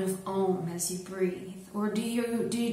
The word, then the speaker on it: Om: we're going to work with the sound of ohm oh and sometimes spelled AUM but still pronounced own so just on one breath I